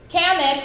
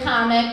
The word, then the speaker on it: Kamek: of you have played, Kamek, or Kamek, depending how you want to pronounce it, the Magic Koopa, is the one who raised Bowser.